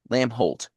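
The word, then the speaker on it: Lambholt: Lamb Holt. Lamb Holt. The B is silent.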